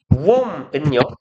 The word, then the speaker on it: womb: 웜은요. 비가 묵음이에요.